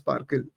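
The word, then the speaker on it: SPARQL: So SparkQL is a query language. Again, there's a protocol on it, and it's pronounced Sparkle.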